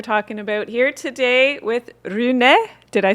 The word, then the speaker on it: Rune: So getting pain free, that's what we're talking about here today with Rune. Did I say it right? Rune. I'm, Yeah. I'm Rune.